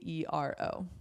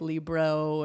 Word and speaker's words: libero: Libero. Libero. Okay, Yeah. perfect. Sometimes people pronounce it like libro and stuff like that, but libero.